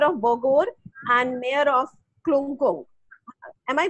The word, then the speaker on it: Klungkung: ask the mayor of Bogor and mayor of Klungkung. Am I pronouncing this correctly, Tara? Klungkung?